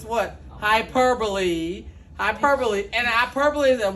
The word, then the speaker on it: hyperbole: we've known for a fact that it's what hyperbole Hyperbole and I purple isn't what total what